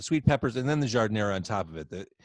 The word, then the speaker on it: giardiniera: Well, and once you enter Chicago or the Midwest, the pronunciation changes. It becomes giardiniera in Chicago. It's not giardiniera, it's giardiniera.